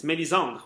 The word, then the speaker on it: Melisandre: Oh, it's very French as a name, because in French I can pronounce it very easily. It's Melisandre, which is actually very nice. And it's pretty common, too, as a name in French.